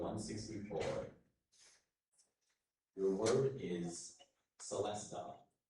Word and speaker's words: celesta: Your word is Celestea. May I have all the information, please? Of course. Celestea. is one of the pronunciations. The main one is Celestea.